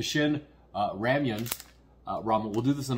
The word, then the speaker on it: Shin Ramyun: So we'll do the Shin Ramen, saying it wrong, the Shin Ramyun ramen.